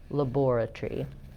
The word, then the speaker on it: laboratory: So we have Tory, but they have tree. They reduce that part to one syllable.